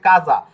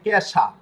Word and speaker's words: casa: যদি চার্জ দিয়ে পান, এখন শব্দটা হচ্ছে কাজা, তো CASA কাজা, ঠিক আছে, কাজা। তো এটা যদি আপনি ইংরেজি উচ্চারণ করেন তখন হয়ে যাবে ক্যাশা। তো কোথায় কাজা বলতে দিয়ে শেষ আর কোথায় ক্যাশা, তো উচ্চারণে বিকৃত হবে, বিকৃত